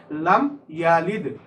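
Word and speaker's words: لم يلد: উচ্চারণটা দেখো, এখানে দাল কিন্তু কলকলা হরফ, বাউন্স করে উচ্চারণ করতে হয়। লাম ইয়ালিদ।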